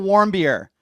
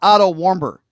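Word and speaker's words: Watters: you idiot you imbecile it's out War beer not Oto warber you freaking secondly preserving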